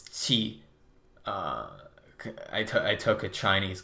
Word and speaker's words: qi: It's a very much a thing to believe in, which I think when you're talking about chi, or if I want to pronounce it, it's qi.